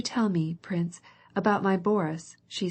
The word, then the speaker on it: Boris: me Prince about my Boris she said as she followed him she pronounced the name Boris with the accent on the first syllable I cannot stay any